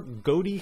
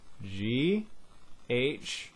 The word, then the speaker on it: ghoti: But anyway, okay, so think of the GH as an F at the beginning of Ghoti.